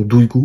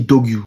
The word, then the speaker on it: Duygu: Au lieu de bien prononcer son prénom Duygu, elle dit Dogyu.